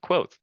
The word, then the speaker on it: Kavoth: It's spelled Kavoth, but oh, and I've actually used this as an example previously, but it's pronounced quot.